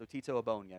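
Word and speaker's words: Ogbonnia: What Abonia does, besides having an elite football name, by the way, that is how it's pronounced, otto Aonia.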